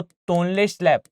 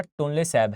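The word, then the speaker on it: Tonle Sap: दूसरी चीज याद रखिएगा, इसमें जो है वो तोनले स्लैब या तोनले सैब, वैसे सही प्रोनाउंसिएशन इसका टोनले सैब है।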